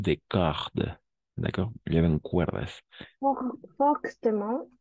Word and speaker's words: fortement: Fortement, et se prononce la ultime NT. Fortement. Mon. Esto siempre va a ser mon. Y sí. Este MENT, ahí sí vamos a pronunciar mon. ¿Por qué? Porque es un adverbio.